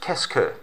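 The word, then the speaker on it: qu'est-ce que: it actually is just means what and it's pronounced kesker kesku meaning what do you want to visit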